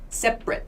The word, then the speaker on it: separate: we don't say separate in everyday speech this a right here becomes a schwa separate separate separate so it's a very quick short sound yeah that's the schwa